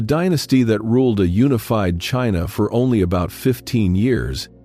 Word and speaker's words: Qin: The country we call China takes its English name, almost certainly, from this very word Qin, pronounced closer to Chin.